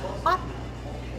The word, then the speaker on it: Aughton: It's spelled Aughton, and so people would say to me, "Where are you going to perform?" And I would say, "Otten," and they'd go, "Where?" And I'd say, "Otten, Otten."